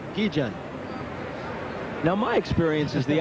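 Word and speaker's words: Guillén: begun to kid me Kubek still making you say gijin well when you talk to Tony Armas of Venezuela Luis Salazar here and I see Keegan himself they say we want Heejun now my experience is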